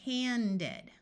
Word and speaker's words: handed: the spelling that counts then we need to use the ed sound with the short e clearly pronounced this is because we cannot pronounce the d in the next syllable without the vowel sound let's look at an